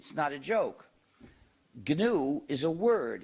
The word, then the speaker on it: GNU: name of our system please do not follow the dictionary please pronounce a hard G please pronounce it gnu if you say the